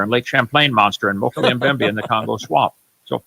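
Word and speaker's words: Mokele-mbembe: Mokele Mbembe.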